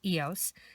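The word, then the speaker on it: IOS: The Eos bead, it's I-O-S, and in French it's pronounced Eos, is a 2-holed bar-shaped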